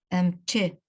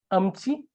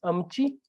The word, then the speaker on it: amchi: Is it amche, doctor? Is it correct? Amche. According to Hassa dialect. No, it so is amche. Yes. Is it? So it's amchi. The pronunciation is amchi. So amchi is just an influence by the original dialect. So, but it's amchi, the one you pronounce. It is amchi. So you stick to amchi.